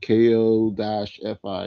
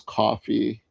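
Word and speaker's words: Ko-fi: It's just I see it like spelled like Ko- Fi. Like I I want to say Kofi or something though. I'm told it's coffee tomato.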